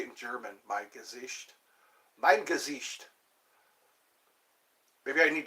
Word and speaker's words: Mein Gesicht: Mein Gesicht.